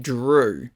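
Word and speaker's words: Dru: also named Gru but the G is replaced with a d and it's pronounced Drew I have a brother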